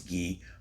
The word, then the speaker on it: Guy: I always say Guy. I know it's Gee, but I think Guy sounds better.